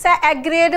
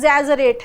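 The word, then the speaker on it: exaggerate: है वो है एजरेट इसको बहुत सारे बच्चे इ इ एग्रेड बोलते हैं ये सही नहीं है ये एजरेट है इसका सही प्रोनंसिएशन क्या है एजरेट एजरेट की स्पेलिंग अगर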